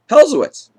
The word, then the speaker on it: hellz: made an attempt so but it's pronounce I say I say to him it's pronounced hellz he looked at me